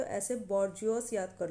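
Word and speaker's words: bourgeois: बौजवा। तो लेकिन इसकी थोड़ी प्रोनाउंसिएशन अलग है, लेकिन इसके स्पेलिंग आपको याद होने चाहिए। और अगर स्पेलिंग याद करने तो ऐसे बॉर्जियोस याद कर लो, ठीक है।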